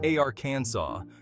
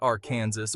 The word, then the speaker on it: Arkansas: It's Arkansas, not Arkansas or any other variation you can conjure up.